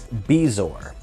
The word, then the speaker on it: bezoar: Anyways, she says, I Googled it to see what it really was, and it says it's Bezoar instead of Bazaar is what I was pronouncing it.